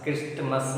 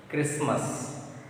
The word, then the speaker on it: Christmas: Christmas, not. T is silent. Christmas, Christmas.